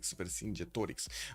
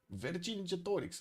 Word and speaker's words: Vercingetorix: Vercingetorix. Oh, it's actually the Romanian pronunciation. Vercingetorix. Lol. Vercingetorix. Got it. The Romanian pronunciation it is.